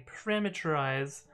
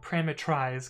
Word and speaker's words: parametrize: test which is the parameterize uh well prima tries because it's it's spelled a little bit creatively uh but we're gonna